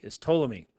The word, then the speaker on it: Ptolemy: Ptolemy. Now, Ptolemy, the P is silent.